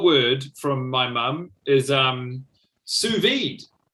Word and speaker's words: sous vide: Sous vide. Damn it. That sounded right to me. SOUSVIDE. Oh. Yeah, the French have a really nasty habit of leaving the last letter off their pronunciation of words.